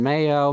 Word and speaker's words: Mayo: the irish my pronunciation mayo much like the condiment bro crohn okay i